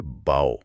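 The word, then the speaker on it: bow: کھیل ہے۔ جی، یہ بہت اہم ہے۔ پہلا تلفظ ہے باؤ۔ ہاں، باؤ۔ یہ فعل بھی ہے اور اسم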